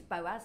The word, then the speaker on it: Boaz: Bose for number one how do you pronounce it Boaz it is Boaz lovely and where is